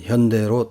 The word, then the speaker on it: 현대: 일본에서 지금까지 휴다이로 표기되어 온 한국의 현대자동차, 2020년에 월드와이드로 한국어 발음인 현대로 통일되었다.